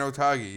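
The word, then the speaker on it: Otaegui: The guy that you won the money on this week, Otagi. Is that how you say it? Adrian Otagi, yeah, and he's been crazy form.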